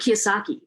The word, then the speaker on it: Kiyosaki: agree with it actually robert kiyosaki i'm pronouncing his last name correctly yeah you are so uh his book